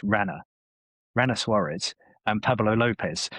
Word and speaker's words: Ranger: Ranger Suarez says his name's not Ranger, it's Rana.